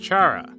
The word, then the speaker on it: Chara: Some people would argue that it's pronounced Chara, similar to how you would say Charmander, but this is entirely up to debate since there isn't an official pronunciation set in place.